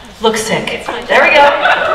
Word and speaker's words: Luksik: Luksik. There we go. It's like an OO sound, but it's spelled with a U.